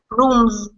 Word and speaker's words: rooms: that's it room room rooms that's it very good room rooms rooms right not an s m is a m